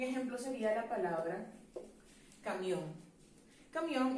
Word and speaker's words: camión: sería la palabra cambio camión es una palabra aguda que debe ser aceptada cuando no la aceptamos